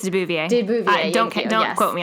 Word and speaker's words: de Beauvoir: I think it's de Beauvoir.